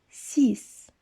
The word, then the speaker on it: six: sec le chiffre 6 veuillez noter que la literie x à la fin se prononce comme est ce encore une fois 6 le chiffre 7 voyez